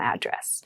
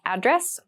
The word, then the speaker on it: address: this is my home address you might also hear a slightly different pronunciations you might hear address or address both are fine so my home address